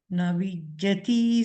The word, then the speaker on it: Navijjati: to it all, but listen specifically to the way the doubled consonants are pronounced by the effectively modern native speakers.